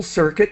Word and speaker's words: circuit: the circuit the electrical circuit the U is really silent circuit circuit it started pulsing it